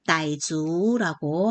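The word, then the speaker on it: 傣族: 중국어 발음으로는 따이주라고 합니다.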